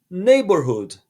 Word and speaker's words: neighborhood: Neighborhood. Olha que palavra grande, mas nela nós não falamos o GH. Presta atenção. Neighborhood. Dois Os em inglês sempre tem som de U.